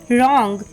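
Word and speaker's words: wrong: टी H Wraith W आर ओ एन जी रंग डब्लू आर ए पी रैप डब्लू आर ई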